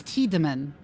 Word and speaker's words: Tiedemann: I don't think that's how that name is pronounced. Shouldn't it be? Yeah, it's Tiedemann. It's Tiedemann. Or Tiedemann? It would be I and E in the other order if it was I instead of E.